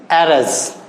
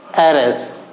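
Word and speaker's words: heiress: HEIRES, एरस, एरस, उत्तराधिकारिणी, एरस, ए से, यहां पर एच साइलेंट माना जाता है, एरस, इस वजह से ये ए से शुरू हुआ, इसमें एन आर्टिकल यूज होगा।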